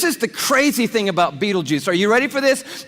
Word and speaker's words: Betelgeuse: heard about this star it's called beetle G's or Beetle Juice you can pick your pronunciation I'm obviously going with Betelgeuse and Betelgeuse is incredible here it